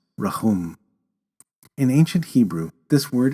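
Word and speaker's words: רחום: the ancient hebrew word which today is often pronounced rahum in ancient hebrew this word is spelled with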